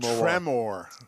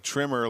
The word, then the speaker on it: Tremor: trim level trimmer tremor t-r-e tremor like the movie with well you new yorkers would pronounce it tremor tremor tremor i thought you were like trimmer like the guys in coming to do my bushes trimmers no not a trimmer no it's not that